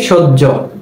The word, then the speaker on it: সহ্য: কিন্তু হ এর সাথে যখন জফলা ব্যবহৃত হবে তখন সেটা আর এই হ এর মতো করে উচ্চারণ হবে না, তখন সেই হ জফলা এর উচ্চারণটা হয়ে যাবে হ জফলা জহ, হ জফলা জহ, এরকম হবে উচ্চারণ। বোঝা গেল? উদাহরণস্বরূপ আমরা বলতে পারি সহ্য, সহ্য শব্দের বানানটা কেমন? দন্ত স হ জফলা, দন্ত স হ জফলা। আমরা বানান লিখি এভাবে কিন্তু উচ্চারণ করি কিভাবে? সহ্য।